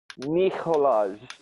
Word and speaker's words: Nikolaj: And it's like you have to say Nick, but it's like Nich. Neek. Nikolaj. Yeah. That's how you pronounce.